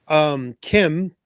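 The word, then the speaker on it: Kh'ymm: But yeah, so the kids tell Kim, whose name is spelled like KH''YMM. I was wondering. I was like, Kim, like that's not a Star Wars name. It's got to be. It is when it's written like that.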